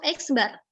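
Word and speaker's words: x̄: x atasnya dikasih garis bacanya adalah x bah jadi gadis itu bacanya bar jadi kau dalam orang saksikan nyebutnya itu eksbar nah is barat rata-rata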